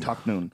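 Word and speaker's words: Tahnoon: Taknoon.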